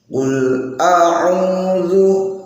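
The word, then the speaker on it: أعوذ: Qul a'udzu. Nah, ini hamzah dulu baru ain. A'udzu, bukan a'udzu, bukan seperti itu. Namun qul a'udzu. Nah, ini pakai dal, bukan pakai dal. Bukan qul a'udzu, bukan du tapi zu.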